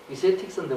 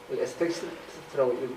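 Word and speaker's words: aesthetics: 그 다음에 이건 뭐냐면은 에스테틱스. 이세틱스인데 원래 우리나라는 에스테틱스라고 읽더라고. 미학이죠, 미학.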